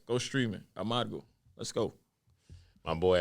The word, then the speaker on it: Amargo: Amargo. How most of you niggas is saying it. Learn how to roll your R's. Amargo.